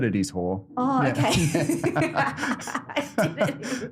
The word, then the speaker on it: Hoare: A bit scared of saying the surname, so they'll pronounce the A, so Hoare, but it is Hoare.